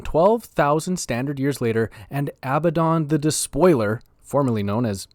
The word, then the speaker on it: Abaddon: late 30th millennium, and Ezekiel Abaddon, yes, that is how I will be pronouncing his name, the firstborn son of